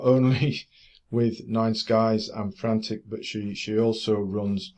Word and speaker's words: Frant1c: excellent prog for you frantic uh I know it's spelled with a one but I'm going to pronounce it you know the ey is a one is an ie or vice versa anyway frantic right so uh it's not